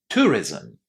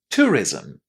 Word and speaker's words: tourism: They're pronounced as ism. Two syllables here, even though we only have one vowel, one letter there, I but there is a little vowel sound just in between Z and M in pronunciation here.